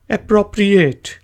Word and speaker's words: appropriate: एप्रोप्रिएट के spelling समझें। APPRO एप्रो, ठीक है जी। एप्रोप हम कहते हैं APPROP एप्रोप, और GH RIATE रिएट, एप्रोप्रिएट। एक दफ़ा बोलें एप्रोप्रिएट। इसका मीनिंग होता है जी उपयुक्त, यानी कि मुनासिब या मौजूं।